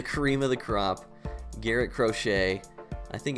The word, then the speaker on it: Crochet: And finally, the cream of the crop, Garrett Crochet. I think it's pronounced Crochet.